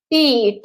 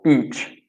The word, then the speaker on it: beach: Remember to stretch the pronunciation out. Beach. Or you will be in trouble. Beach.